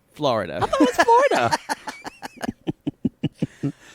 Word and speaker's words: Flo Rida: artist known as Flo Rida was not pronounced Florida.